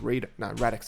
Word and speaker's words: Radix: Radix, I think Radix, yeah, that's how you pronounce it, is one that just, I think, yeah, in October released a stable for version 4.